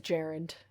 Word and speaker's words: gerund: It's a gerund. It's pronounced gerund. Oh, is it pronounced gerund?